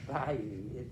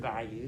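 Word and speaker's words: bayou: for the night in a southern voice it's pronounced by you it i know it doesn't look like it's french you've heard by you haven't you heard that word go to the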